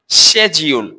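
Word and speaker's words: schedule: নটশিডিউল এটা হচ্ছে সেজিউল।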